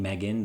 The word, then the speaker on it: M3GAN: review of the film Megan or M3 Gan it's spelled m3gan film is written by